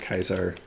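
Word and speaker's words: Caesar: how you pronounce it kaiser that's how they pronounce it in the game some people do i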